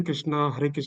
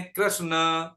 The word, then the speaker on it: कृष्ण: तो अब क्या है कि वो पूरा न है कृष्ण, तो इसमें अ जुड़ा जुड़ा हुआ है ना, तो न के साथ ए आएगी, तो अंग्रेजी का उच्चारण कृष्णा बोलेंगे वो।